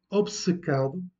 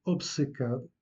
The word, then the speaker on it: obcecado: abscesse, donc un abcès, obcecado, vous prononcez le B et le C, donc toutes les deux sont prononcées, obcecado, obsédé.